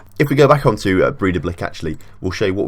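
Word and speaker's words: Breiðablik: That's sort of a D in the accent, so Breda Blick, but it's not a D obviously, it's got the accent in it, so we'll call them Breda Blick for now, but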